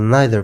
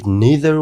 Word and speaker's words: neither: نو د پوښتنې جواب دا سو چې د دا لغتونو دواړو تلفظ صحیح دی، که چیرې موږ neither وایو که neither، او که چیرې موږ either وایو که either، دواړه صحیح دی.